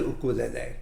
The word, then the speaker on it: ukulele: if any in the ukulele and notice i pronounce it ukulele which would be the hawaiian way to pronounce it so the purpose of